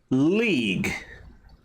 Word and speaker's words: league: that's what you said League there's a a g and then a u you don't pronounce neither of those you